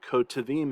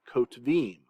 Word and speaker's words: kotvim: Here we've got the hirik, which is short before the sheva, so it's silent. Kotvim. Okay, you'll notice I said kotvim and not kotvim.